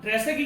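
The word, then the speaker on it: Terzaghi: अभी T silent as है। अगर आप बार बार सोचोगे तो मैं टी, देखो मैं टी नाम नहीं रहा क्योंकि इसके नाम में टी आपका साइलेंट है, ठीक है। आप इसको ट्रेसेग्यूट बोलते हो, इसका नाम है ट्रेसेगी।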